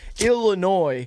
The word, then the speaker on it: Illinois: I want to resay Illinois has Harrison Ford I understand that the S is silent and you do he